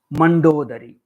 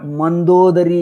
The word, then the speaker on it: मंदोदरी: अग्रिमः शब्दः अस्ति मंदोदरी मंडोदरी। मया अन्यथा उच्चारणं कृतं। प्रथमं तु मंडोदरी इति दर्शितमस्ति, अनन्तरं मंदोदरी इति पुस्तके अस्ति। अनयोर्मध्ये इदानीं द्वितीयवारं यदुच्चारितं मंदोदरी इति रूपमेव शुद्धम्।